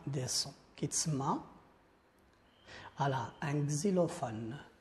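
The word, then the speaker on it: xylophone: سون، كيتسمى على ان كزيلوفون. هاد اكس كتنطق كزي، ان كزيلوفون.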